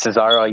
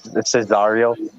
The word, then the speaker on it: Cesaro: I think you met Cesaro. You kind of said Cesario.